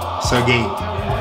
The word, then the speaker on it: Sergey: That's how to pronounce his name. Sergey.